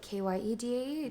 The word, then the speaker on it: Kyedae: My parents just spell it K-Y-E-D-A-E The just progress to make elsewhere it now.